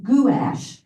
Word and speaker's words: gouache: I took my art lesson when I was introduced to gouache in England and they say gash. Oh, interesting. Guash.